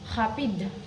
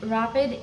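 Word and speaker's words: rapide: It is going to be like okay, so now let's pronounce it with vowels. So the first word is going to be rapid, rapid, which is fast or quick, rapid in English.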